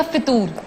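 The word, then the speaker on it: فتور: सर इसके correct pronunciation क्या है, फतूर या फितूर? फतूर, फे के ऊपर पेश है, یہ بڑی عام بات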